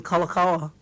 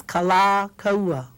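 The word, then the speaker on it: Kalākaua: much if you you know you call him kakawa I think that's kind of you know not not nice not poo not good okay it's kala Kawa kala Kawa okay okay see the K Kal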